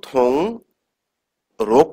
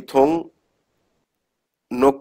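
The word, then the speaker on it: 등록: right এটা হচ্ছে card এখন এখানে আমরা কি উচ্চারণ করব থুং রোগ করবো নাকি থুং নোখ করবো কোনটা থুং নো রাইট এখানে একটা বাচ্চিমের রুলস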